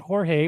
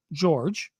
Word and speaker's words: George: Okay, well, George's name is spelled like yours. He doesn't pronounce it Jorge or Jorge. He pronounces it George.